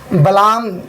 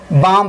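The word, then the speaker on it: balm: बी ए एल एम को क्या पढ़ना है? बलाम नहीं पढ़ना है। बल्कि क्या पढ़ना है? बाम पढ़ना है।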